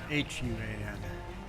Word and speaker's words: Juan: a Russian name Juan spelled j uan but pronounced H UA an Michael did you just call yourself ignorant Michael